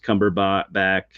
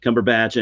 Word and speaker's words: Cumberbatch: It's got um Benedict Cumberb back, however you say his name. Batch. Uh Batch. Cumberbatch.